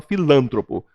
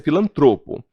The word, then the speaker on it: filantropo: Cuidado, as pessoas falam filântropo. Se a pronúncia fosse filântropo, ela seria proparoxítona, logo ela estaria acentuada. A pronúncia é filantropo. É um absurdo falar que ele é um adestrador filantropo, né?